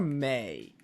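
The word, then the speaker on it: Mae: Is her name Maya or May? There's an E, so it's May.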